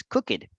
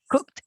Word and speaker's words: cooked: that or think that the pronunciation of this word is crooked and actually that's not the case it's just cooked exactly so you know